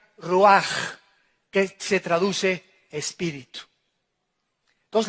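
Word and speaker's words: ruach: hebrea uach con ch al final que se pronuncia rúas que se traduce espíritu pues la palabra espíritu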